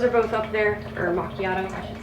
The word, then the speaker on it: macchiato: If you hear me do butterscotch swirl or caramel mochiato, those are both up there. Or macchiato, I should say. Excuse me. Mochiato. Oh, dear. Some people pronounce it mochiato, some macchiato.